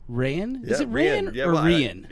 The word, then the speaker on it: Reyen: Is it Reyen or Reyen? It's Reyen, but I've heard it pronounced a million different ways. So I'm used to it's Reyen, in Spanish, the king is Rey, like R-E-Y.